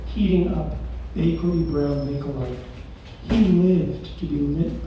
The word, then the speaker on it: Bakelite: So I'm going to ask you guys Pronunciation is fake. Bakelite? What's that? Plastic stuff. Bakelite? Bakelite.